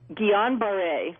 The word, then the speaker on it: Guillain-Barré: Guillain-Barré.